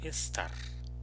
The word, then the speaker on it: esta: We also learn that the word esta, which means this. So the stress syllable in this other word is esta, is S. So here the stress is ta.